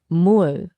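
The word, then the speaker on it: 물: In Korean, it's Mur, pronounced Mul.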